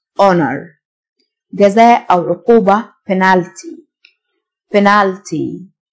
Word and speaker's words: honor: physical مكافأة reward reward honor الH silent honor جزاء أو عقوبة penalty